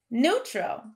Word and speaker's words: neutral: Neutral. When we look at our first syllable in neutral, n-oo, we have the oo sound, and it is spelled with an E-U.